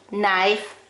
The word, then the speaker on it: knife: you have k n those are the silent letter is k you don't say kanak you don't say knife you don't say knee you say knee knife knock okay now we're going